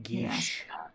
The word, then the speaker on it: geas: Geesh. Geas. It's pronounced Oh, gee. that's right. And it's pronounced geesh. I always thought it was Yeesh with a G.